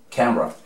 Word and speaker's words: camera: Le quitamos la E y decimos camera, camera, camera.